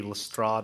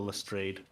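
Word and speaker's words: Lestrade: Uh you can tell that they that they hadn't decided if it would just be Lstrad or Lstrade because we we've heard both pronunciation now.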